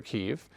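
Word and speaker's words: Kyiv: kiev k-y-i-v uh and the reason is kiev is the russian pronunciation and kiev is the ukrainian so is this a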